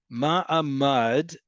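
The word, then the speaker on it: מעמד: Ma'amad is stance. Mamad is a safe room. Okay? Two different words.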